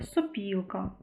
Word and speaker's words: сопілка: ненаголошений звук став наголошеним інколи трапляються слова де ненаголошений о також може вимовлятися з наближенням до близького у і відбувається це тоді коли наступний склад з наголошеним у або і це наприклад такі слова як кожух е сопілка в таких словах ми